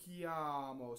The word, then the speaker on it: chiamo: Notice that we have CHI, and the H is there to make the C hard, right? And the I is just a semivowel.